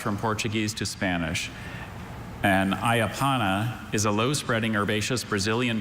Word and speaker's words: ayapana: And ayapana is a low-spreading herbaceous Brazilian shrub whose long narrow leaves are used to make a mildly stimulating decoction resembling tea.